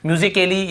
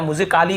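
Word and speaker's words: musically: म्यूजिकली या म्यूजिकली या म्यूजिकाली ऐसे हो रहा है क्या?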